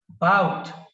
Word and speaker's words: about: See here, about. The stress is on the second syllable, bout, about.